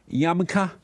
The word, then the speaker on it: yarmulke: And so the cartoon depicted a blind president, Trump, wearing a little Jewish hat, yarmulke.